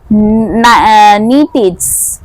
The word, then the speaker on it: Nietzsche: Then একটা আলাদা প্যারা লিখলে, the will to power is a prominent concept in the philosophy of Friedrich Nietzsche. উচ্চারণটা মানে স্পেলিংটা হচ্ছে NIETZ SCHE, নাইটিচ, ঠিক আছে, ফ্রেডরিচ নাইটিচ।